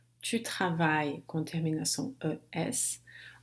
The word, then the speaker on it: travailles: O S é a marca da conjugação da segunda pessoa do singular para esses verbos, né, que terminam em ER, mas ele não se pronuncia. Tu travailles. Eu não vou dizer tu travailles. O S não vai se pronunciar.